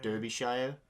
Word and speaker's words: Derbyshire: was named delia derbyshire i think it pronounced derbyshire which pronounced it like british places at any chat would be derbyshire but uh d-e-l-i-a d-e-i-b-y-s-h-i-o-e that's